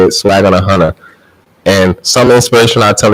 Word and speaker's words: SWAGGONAHUNNA: Yes, Swag on a Hunter, my Instagram, SWAGGONAHUNNA, Swag on a Hunter. That's how you say it, Swag on a Hunter. You don't have to slow down and say it, Swag on a Hunter.